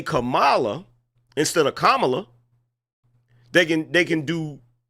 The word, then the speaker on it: Kamala: how you would spell that you probably would spell it KO m m a l a that would spell commala Kamala is k a m a l a that's Cala we know how to